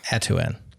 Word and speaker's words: Atuin: Atuen. Kind of like Tatooine. Pretty close actually.